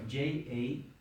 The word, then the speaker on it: Jagannath: Lord, Lord Jagannath. how do you spell that? Sorry. Jann. No, No, sorry. Jagannaath. Thank you. Lord Jagannath. Okay. there's an English word, juggernaut. Juggernaut. Yeah, it's the same.